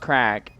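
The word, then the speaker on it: craic: But yeah, crap pronounced crack.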